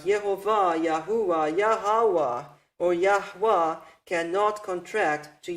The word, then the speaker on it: Yahweh: So, this is the true pronunciation of the Creator's name. These are the correct vowels with which we can write down this pronunciation, Yahweh.